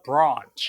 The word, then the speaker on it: branch: 그래서 미국 발음의 에라고 발음되는 부분을 영국에서는 많은 경우에 아로 발음한다. 모두 다 그렇지는 않지만 그래서 branch가 아니라 branch 이렇게 발음합니다.